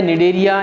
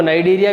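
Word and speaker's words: Cnidaria: निडेरिया, या कई books आपको नाइडेरिया भी मिलेंगे, दोनों सही हैं, वो केवल प्रोनाउंसिएशन का फ़र्क रहता है।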